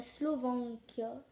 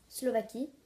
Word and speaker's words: Slovaquie: Il y a des gens, ils disent la Slovaquia. Et en fait, c'est la Slovaquie. Voilà. Donc, ceux qui disent la Slovaquia, c'est la Slovaquie. Donc, c'est la Slovaquie.